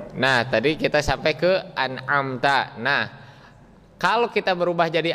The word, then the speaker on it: أنعمت: Nah, kemudian di huruf ta-nya kita tahu di situ ada fathah, harus disempurnakan bacaan fathahnya, dibaca an'amta bukan an'amtu.